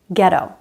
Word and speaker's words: ghetto: When GH is at the beginning of a word, H is silent, like in ghost or ghetto.